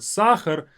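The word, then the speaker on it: сахар: Like in this word sachar, we have both as. So make sure to open up your mouth on a. Sachar. And don't rush this word.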